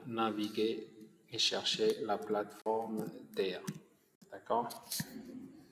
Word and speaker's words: THEIA: On va aller dans la barre de recherche pour naviguer et chercher la plateforme TEIA, d'accord? Ça s'écrit comme ça, T-H-E-I-A, c'est TEIA.